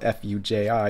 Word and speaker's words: Fuji: So the proper pronunciation is probably somewhere in between an H and an F. Like, think of just a really airy H sound. So instead of saying hu, say like hu, Fuji.